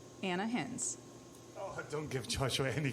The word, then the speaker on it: Ana Hinz: manager and how do you say your name Anna hins oh don't give Joshua any credit please please